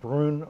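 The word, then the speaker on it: Brünn: Thomas Monastery in what was then known as the city of Brunn, but also Brno. I'm pronouncing it in German and Czech, and it was in fact an ethnic German-Czech city at the time.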